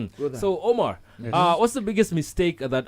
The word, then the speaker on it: Omer: He said the pronunciation is Omar, but it's written as Omer Jamal.